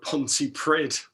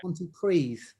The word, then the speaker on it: Pontypridd: I put Pontypridd.